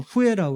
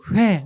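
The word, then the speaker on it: Huế: 한국 분들은 발음을 후에라고 그러고 현지인들은 회 이렇게 발음을 합니다.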